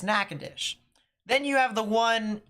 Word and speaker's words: Natchitoches: because there's not caused there's nakadish in Louisiana that has the TCH i t o c h e s it looks like Natchitoches but it's not it's nakadish then you have the